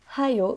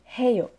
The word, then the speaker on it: 해요: C'est pas haayo, c'est pas hayo, mais heyo.